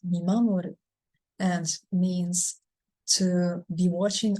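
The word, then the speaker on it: 見守る: This word is pronounced Mimamoru and means to be watching over someone, to watch over someone, to keep an eye on someone.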